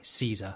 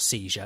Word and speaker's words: Caesar: Caesar, that's how I've got to say it. It's not seizure, it's Caesar.